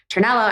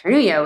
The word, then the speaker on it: Ternullo: we go to immigration my last name is chello as you know and it has that Double L and so sometimes you know people might people have you know pronounced it turno which would suggest that I'm a Spanish speaker maybe a Latino woman and so this this